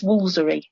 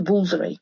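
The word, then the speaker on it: Woolfardisworthy: bidford yeah and is actually pronounced locally as wolery so they literally miss out the entire twoth thirds of the word and just go Wy and I I just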